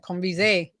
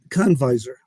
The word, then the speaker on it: Conviser: I gave it the French accent, Conviser. Convisor. Convisor. That Yeah. just like it's spelled, just like it's spelled.